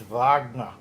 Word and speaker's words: Wagner: the W's uh is a v says it's Wagner yeah correct you know well that's that's yeah